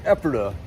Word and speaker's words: Ephrata: the exact same thing, only they called it Ephrata. So it's a couple of different spellings. It's a name out of the Bible. We pronounce it here as Ephrata.